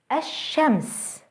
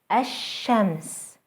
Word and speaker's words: الشمس: Let's try to pronounce a word that starts with an L followed by a sun letter. الشمس, الشمس, the sun.